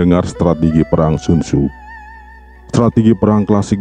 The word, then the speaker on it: Sun Tzu: Oh oui, en quelque sorte la bonne façon de prononcer le nom de ce personnage. Certaines personnes appellent ce personnage sun-tzu, certains l'appellent sun-shin, mais certains l'appellent sun-ce. Dorénavant, l'admin suivra celui couramment utilisé, à savoir Sun Tzu.